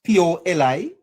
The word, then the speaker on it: politikos: All right, I may have a problem with the pronunciation. It's P-O-L-I-T-I-K-O-S, politikos.